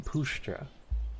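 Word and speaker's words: puszcza: Shit, I don't know how to pronounce that. Damn it. Oh, Pushcha? I mean Pushcha.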